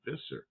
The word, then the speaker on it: Visser: Fisser, somebody named Fisser. I knew a guy in South Africa, Visser, but he he pronounced it fisser like it was an F.